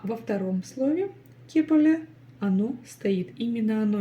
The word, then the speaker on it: кепілі: Ну и здесь буквы повторяются такие же, как и в первом слове. Первая буква Е в первом слоге, ке, и дальше палочка с точкой. Прочитать ее уже несложно. Кстати, снова буква Л, которая читается мягко.